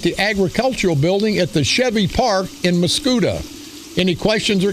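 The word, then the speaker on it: Scheve Park: always need to be corrected he says the Shreve Park but it's pronounced Chevy Park so I want to apologize to all the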